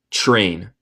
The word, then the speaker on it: train: Cuando tenemos TR en inglés, muchas veces suena como CHR. Train, train. No digo train. Casi no puedo decirlo. Decimos train, CHR, train.